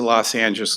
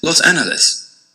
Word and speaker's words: Los Angeles: to pronounce los angeles the short answer is that it depends on whether you're using the spanish or anglicized pronunciation the spanish pronunciation is los angeles and the anglicized pronunciation is los angeles but that answer doesn't